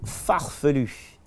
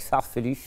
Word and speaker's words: farfelu: Mon mot préféré en français est le mot farfelu, parce que c'est farfelu. Et pour un anglais, c'est très difficile de prononcer le U à la fin. Donc, avec farfelu, vous pouvez montrer que vous parlez très bien français avec farfelu.